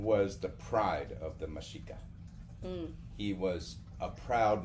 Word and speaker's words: Mexica: But yeah, they are the Meshica, what we call the Aztecs.